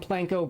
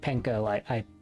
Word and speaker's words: panko: to try cheese and planko breadcrumbs. Yes, I know it's pronounced panko. ADHD! It's a force of habit from someone that I know who calls them planko breadcrumbs.